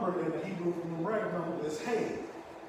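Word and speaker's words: הא: It also means the 5th number in the Hebrew numeric number is Hey. It looks like the word He, but you pronounce it Hey.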